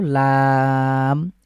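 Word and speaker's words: لام: ঠিক এভাবেই এরপরে হলো লাম এটাও আমরা তিন সেকেন্ড লং করব লাম লকার লা এবং ম খুব সহজে রয়েছে বাকি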